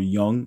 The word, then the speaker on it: Jung: Same thing Carl Young or Jung. I I was told that it was Carl Young and that J is pronounced like a Y, but whatever.